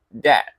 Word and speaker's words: debt: Ini bacanya debt, bukan debt. Ya, B-nya nggak dibaca ini guys.